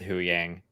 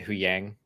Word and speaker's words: Huyang: was that conversation with hu Yang although should we try to say who yang because Yang we realized Ahsoka says it huyang and we say it